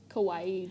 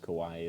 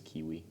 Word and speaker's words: kawaii: like cute Japanese girls for a while I pronounced Kawaii as kiwi kiwi kiwi kiwi yeah